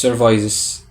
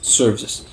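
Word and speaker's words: services: خلي بالك من النطق ايه ده يا عم الحج اسمها سيرس مش سيرفاس بس سيرفس يبقى خدمات الطوارئ اسمها امرجنسي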